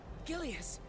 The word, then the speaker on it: Gilius: Gilius.